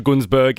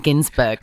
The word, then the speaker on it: Günsberg: Osher Günsberg is joining us next.